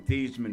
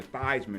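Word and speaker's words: Theismann: the Heisman trophy so he changed his name from thevan to thyman to rhyme with Heisman you know what wow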